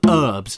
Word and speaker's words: herbs: serious question for americans why do you call them herbs why is there a silent h there what do you live